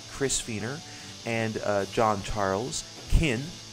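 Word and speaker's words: Qyn: Kin, I think that's how it's pronounced. It's spelled Q-Y-N, so I'm not entirely sure.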